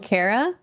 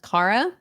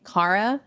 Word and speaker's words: Kara: Yeah, so my whole life I've been called Cara when it's pronounced Cara. So I always have to correct people that my name is actually Cara.